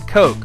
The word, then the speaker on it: Koch: The music in the background, it's from our friend Dan Koch, who is a music-making genius.